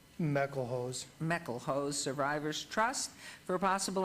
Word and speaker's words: Meckelhose: Is it Mick Elhose, or is it? Meckelhose.